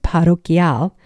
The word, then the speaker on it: parroquial: Next, parish or parroquial, which is pronounced parroquial, albergues are run by the local church or diocese.